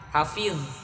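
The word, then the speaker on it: حافظ: Ujung lidah nempel ke ujung gigi sanaya bagian atas. Ujung giginya bukan pangkalnya. Sini. Hafiz.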